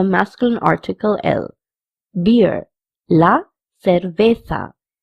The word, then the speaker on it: cerveza: Actually, over here, CE is pronounced as se also and se also. In Spanish, the CE pronunciation is not que, but se or se. So we can say cerveza or cerveza because both CE and Z have the pronunciation of th.